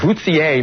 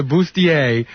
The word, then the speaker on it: bustier: The Bootsier. Wait a second now. The Bootsier. Tarara Bootsier. This is before the Bustier was very popular, and even you, there was no pronunciation. Oh, even I now. Now I'm involved in this. I'll tell you one thing. If I was auditioning for something, I'd find out how to say Bustier.